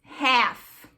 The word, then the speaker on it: half: Quando você tem esse AL, assim, você não pronuncia igual a gente fala, tá?